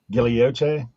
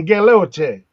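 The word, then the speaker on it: guilloche: Gilioche. There you go. Yes. That's 100% how it's pronounced. I don't even Next time I go to the yard sale, I'm gonna say you got any Galoche.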